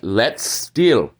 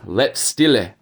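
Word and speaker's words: Letzt Stil: If you go back when Ishida first uses the Quincy Lechstil, they pronounce it right. Let's still, not the let's stille.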